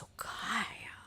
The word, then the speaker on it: Sokaya: And we're like, have we been mispronouncing it this whole time? Like, it isn't soya, and we've been saying soya. I've been telling people, you've got to go try out this place, soya. And it's Sokaya.